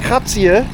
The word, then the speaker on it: Kratie: Und mit diesem wunderschönen Sonnenuntergang hier aus Krazie oder auch Krazi, ausgesprochen, aber Kratze geschrieben, verabschiede ich mich und hoffe, euch hat das Video auch gefallen.